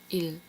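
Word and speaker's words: ils: 너 그 일 그들 일 뒤에 애쓰는 발음하지 않아요 쓸 때만 일쓰라고 쓰고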